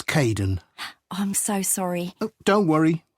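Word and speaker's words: Kaeden: welcome to the team hi Aiden uh it's Kaden I'm so sorry don't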